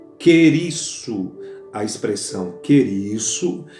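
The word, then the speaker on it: κηρύσσω: A palavra pregar, o verbo pregar, ele vem de uma raiz, de uma pronúncia grega que é querisso.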